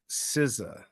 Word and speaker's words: SZA: Babe, that's an artist pronounced like SZA.